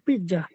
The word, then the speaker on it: piazza: è dietro la piazza, Dietro la piazza. o piazza, Piazza. piazza, Piazza. Z'র উচ্চারণ S হয়।